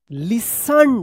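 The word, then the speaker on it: listen: एस टी ई एन यहां पे जो है ना टी साइलेंट था लेकिन इसमें में ई डी लग गया है तो क्या पढ़ेंगे?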